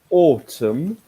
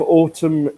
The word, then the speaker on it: autumn: the first day of autumn okay and if you if you heard the way I said that yes you will note this that I don't pronounce the N yes this is pronounced